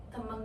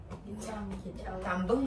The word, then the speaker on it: tembang: Jadi, Sunan Kalijaga itu berdakwah lewat wayang kulit, gamelan, dan tembang Jawa. Gimana bacanya? Ya, tambeng enggak? Tembeng. Tembang.